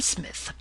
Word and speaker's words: Psmith: are you I am Smith said the old aonian reverently there is a preliminary P before the name this however is silent I like the tomb compare such words as Tagan Psalm and FES these gentlemen tell me